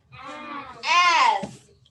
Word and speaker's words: as: As. What sound do we hear at the end? Z. Good. What's it spelled with? S. Right. It's spelled with an S, even though the sound is what?